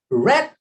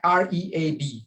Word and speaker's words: read: Tapi kalau past tense-nya Sue read a book yesterday. Tulisannya sama, sama-sama R-E-A-D, tapi bacanya beda ya. Ini read agak problematik ini. Present-nya dibaca read, tapi past tense-nya dibaca read.